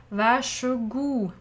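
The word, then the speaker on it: vær så god: are here we are if i say quickly and i have a rolled r then i they are in the s together is pronounced sh vashogu and very often people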